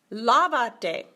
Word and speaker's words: lávate: But we have to add an accent mark to keep the stress in the original place. Uno, dos, tres, the third syllable from the end, bam, there goes the accent.